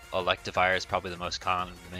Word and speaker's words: Electivire: I want to say electivire is probably the most common thing for it but maybe I'm just crazy because electivire rhymes with Livewire I don't know I